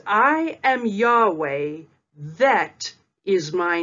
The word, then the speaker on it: Yahweh: you'd hey valve hey which in English is y h v h which is pronounced as Yahweh for example in the introduction part two we studied Isaiah 42 verse 8.